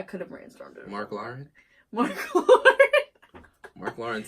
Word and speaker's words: Lahren: Lahren. Yeah, that's how you say it.